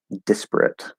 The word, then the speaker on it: disparate: a good question um disparate i worry that if i stress the first one it gets real close to sounding like desperate no because there's